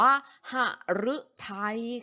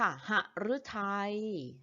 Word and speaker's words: หฤทัย: หลัง หอ หีบ ค่ะ อยู่ หลัง หอ หีบ คำ นี้ อ่าน ว่า หฤทัย ค่ะ หฤทัย ต่อ ไป รึ ที่